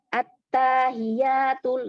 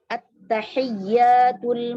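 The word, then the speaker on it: التحيات: Kata mereka at-tahiyatul gitu, ya kan? Tuh, tanya dipanjangin. Terus haknya yang harusnya ha dibaca ha. Gitu. Nah, tugas kita sebagai orang tua atau sebagai pendidik meluruskannya. At-tahiyyatul mubarakatus shalawatut thayyibatu lillah.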